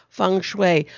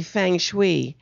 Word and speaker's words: Feng Shui: And whenever you see ENG in a Chinese word, it's pronounced ung.